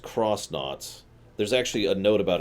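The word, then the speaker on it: X-Nauts: it'll tell you that you're supposed to pronounce it cross instead of X which also means Tech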